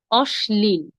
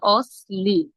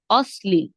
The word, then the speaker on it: অশ্লীল: উচ্চারণ করব এর মত একটি প্রচলিত শব্দ যদি বলি অশ্লীল অশ্লীল শব্দটিতে শব্দটিকে অনেকে উচ্চারণ করেন অশ্লীল আসলে সঠিক উচ্চারণ হবে অশ্লীল কেন বলুন তো তালব্য স এর পরে কি ল যুক্ত আছে ল থাকার কারণে আমরা স উচ্চারণ না করে স এর মত করে উচ্চারণ করে বলবো অশ্লীল আচ্ছা তাহলে আমরা একটু